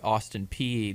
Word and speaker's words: Austin Peay: Apparently that's how you pronounce it, Austin Peay, the other night.